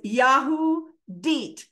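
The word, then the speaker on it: Yehudit: Uh Yahoo so it's yahoo de so the accents on the last syllable yahud and it's a Hebrew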